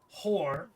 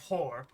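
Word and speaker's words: Hoar: Grumbar, Guerond Rinstrom, Helm, Hor, which is not pronounced like whore, Ilmater.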